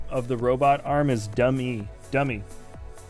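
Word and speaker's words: Dum-E: the robot arm is dummy dummy he just called him dummy but it's spelled d um - because he's a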